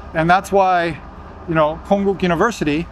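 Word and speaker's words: Konkuk University: And that's why, you know, Konguk University, see, I just pronounced it with a K, a hard K.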